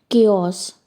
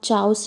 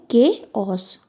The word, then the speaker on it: chaos: Third है केओस। Okay, इस CHAOS को हम चाउस नहीं पढ़ते, इसका प्रोनाउंसिएशन होता है के ऑस।